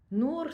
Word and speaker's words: Nour: Nour ça veut dire lumière en libanais du moins Nour N O U R je l'appelle comme ça mais tu ça s'écrit en arabe ça tu peux prendre l'alphabet arabe ou tu peux prendre notre note alphabet mais c'est le son qui est important nour puis c'est relié à